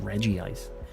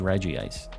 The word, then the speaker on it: Regice: it's just not spelled Reggie ice and in Japanese it is spelled Reggie ice but guess what as a kid I have to just read it for what it is Regice r-e-g-i-c-e who would pronounce that Reggie ice I get that